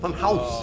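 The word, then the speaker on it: Funhaus: No, house is Bring spelled with people. H-A-U-S. House. House. Funhouse. Like Hauser.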